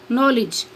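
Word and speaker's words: knowledge: next है silent के के इज नॉट प्रोनाउंसड के प्रोनाउंस नहीं किया जाता या के आवाज नहीं देता वन फॉलोवड बाय एन एट the beginning of a word जब किसी लब्ज के शुरू में के के बाद एन आए for example knife नी नो नोक नॉलेज next silent L एल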